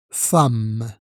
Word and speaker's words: femme: La lettre E ici se prononce A. Femme.